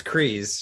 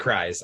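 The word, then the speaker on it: Kryze: It's Kreese. She's from House Kreese. Cry, yeah. But it looks like Kreise. I get it. It is Kreese.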